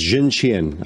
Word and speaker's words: Xuntian: You had it correct. It was Zhuntian. I just pulled that up. Oh, okay. Zhuntian.